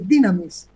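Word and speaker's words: δύναμις: una es dinamismo dinámico que se escribe tsunamis pero se lee dynamis quiere decir poder potencia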